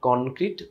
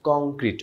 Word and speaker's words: কংক্রিট: এই ক্ষেত্রে উচ্চারণ মনে রাখা জরুরি, this is নট কনক্রিট, কংক্রিট অনুস্বার।